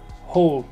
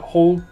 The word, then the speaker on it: whole: On ne prononce pas vraiment le W, vous avez vu comme je dis whole, the whole, I ate the whole pizza, the whole Lucifer thing.